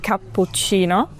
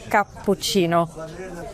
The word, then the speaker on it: cappuccino: an a like a cappuccino, but in Italian, it's really important to pronounce that u. Cappuccino. And the double p is long. Cappuccino.